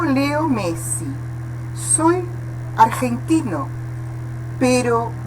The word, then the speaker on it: argentino: Depois, letra G, não é argentino, é argentino, né? Nessa pronúncia você vê que é gutural, não é verdade? Aqui, então, na verdade é aspirado, né? Argen, como se fosse, na verdade é diferente, você tem que colocar a pronúncia como se fosse a aspiração na garganta, gen, né?